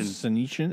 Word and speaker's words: Senyshyn: Senyshyn?